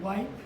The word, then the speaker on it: wipe: Now let's look at the word wipe. This is a long I sound with a silent E.